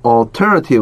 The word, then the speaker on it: alternative: 이거 alternative 한번 시켜. Alternative. 임절 강세 있습니다. Alternative. 임절 강세 있어요.